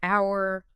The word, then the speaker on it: hour: Besides words where it's always silent in American English like hour, honest, air, and often herb h frequently vanishes in